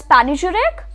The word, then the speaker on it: panegyric: P-A-N-E-G-Y-R-I-C. Now this is pronounced in two different manners. Either you can say it as panegyric or panegyric. Either ways.